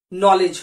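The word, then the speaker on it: knowledge: है H silent है क नॉलेज नहीं होता के साइलेंट है नॉलेज होता है इसी तरह कनो नहीं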